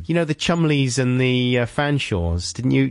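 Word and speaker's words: Cholmondeley: Why would you spell it like that if it's Wyndham? Have you never seen, like, you know, the Chumleys and the Fanshawes?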